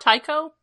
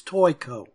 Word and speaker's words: Toiko: So it's not Taiko? Well, no, it's not Taiko. It's Toiko.